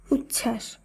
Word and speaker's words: উচ্ছ্বাস: যেমন উজ্জ্বল, সান্ত্বনা, মহত্ব, দ্বন্দ্ব, উচ্ছ্বাস, তত্ত্ব। লক্ষ্য করুন, এই প্রত্যেকটি শব্দেই যে যুক্তবর্ণ রয়েছে, শব্দগুলিকে যখন আমরা শুদ্ধভাবে উচ্চারণ করছি সেখানে কিন্তু বফলার উচ্চারণ বাদ দিয়ে শব্দগুলিকে উচ্চারণ করতে হচ্ছে।